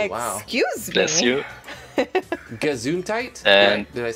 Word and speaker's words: Gesundheit: Gesundheit? And did I say it right? Your oven? Yeah, Gesundheit.